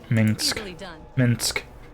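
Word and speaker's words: Minsc: Minsk. That's how you say his name. I'm saying Minx, and that's not his name at all. His name is not Minx.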